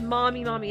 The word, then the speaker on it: Mami: It's not spelled like mommy. It's M-A-M-I mommy.